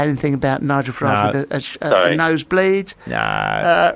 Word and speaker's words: Farage: Farage. F.A. Rage, yes. Yeah. Oh, nice. That's right. Do you know why it's not pronounced like garage?